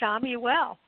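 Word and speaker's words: Chamuel: happen and even quicker uh talk to archangel shomey well and uh you know you can like uh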